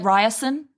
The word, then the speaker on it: Riorson: Are we going with Riorson? I call him Riorson. I've also heard Ryerson.